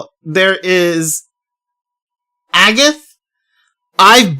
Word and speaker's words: Agate: I didn't I like it was either a gate or agate and I went with Agate, right? Turns out his name is actually Agath.